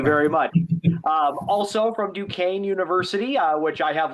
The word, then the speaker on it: Duquesne: welcome Anthony Joseph and I I hope I'm pronouncing this correctly. Lucini. Um Lucini. Lucini. Thank you very much. Um, also from Dukane University, uh, which I have learned once again